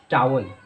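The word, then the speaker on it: towel: आप इसकी प्रोनाउंसिएशन क्या करते हैं? टॉवेल। इसकी राइट प्रोनाउंसिएशन होती है टावल। जी हाँ, टावल।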